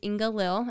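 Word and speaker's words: Inga-Lill: that was really good, but his wife is Inga Lil. Is that how you pronounce That's it?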